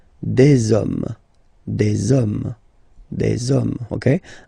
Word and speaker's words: hommes: homme, and after that you just put the s at the end. You don't pronounce it, so you get des hommes, des hommes, des hommes.